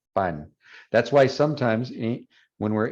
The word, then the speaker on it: pan: Now, the way it should be pronounced in Spanish, obviously pan and pan are different words, but pan, pan, you should feel little to no air when you say pan in español, pan.